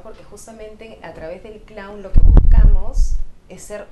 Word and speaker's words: clown: y me dice hermano no se dice Clon se dice Clown sorry si lo que